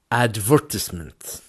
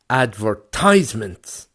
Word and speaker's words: advertisement: word advertisement advertisements now you can hear there that the stress is going into the V advertisement it's going into the advertisement the second syllable the second part of that word advertisement but if you were in America in the USA that word becomes advertisements advertisements so you see